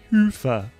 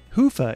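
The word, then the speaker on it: Hyvä: calculations to Commerce is sponsored by hia or as the European say Hua or the right way to say it hufa is rapidly becoming the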